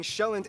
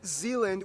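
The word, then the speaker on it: Sjælland: with the largest island being shown not Zealand which is not to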